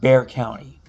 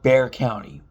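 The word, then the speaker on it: Bexar County: in, by the way, is spelled B E X A R, but it's actually pronounced Bear County. So, for those that are ever in the area, remember that it's actually called Bear County.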